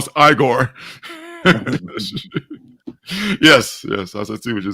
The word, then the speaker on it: Igor: to come you know Frankenstein Frank Frankenstein it's pronounced igore yes yes I I to would you say